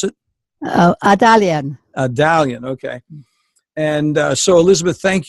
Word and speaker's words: Adalian: is it is alien is that how I pronounce it Italian Italian okay and so Elizabeth thank you so much